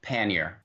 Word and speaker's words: pannier: for 15 minutes so the the conclusive uh pronunciation of the word is pannier but all kidding aside i think the way